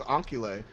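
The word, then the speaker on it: Ancile: But so what do you think of the attempts to buff bruisers in the solo lane with Ankile, which is the correct way to pronounce it?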